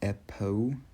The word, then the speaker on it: Epo: in Hawaiian, but then I added the E to make it sound like Epo, which is, that's not a word obviously, but it rhymes with echo, like echolocation, which is